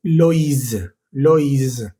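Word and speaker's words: Loïs: Ya no va a ser wa, sino o i. Por ejemplo, en el nombre Lois o también en el nombre Moisés.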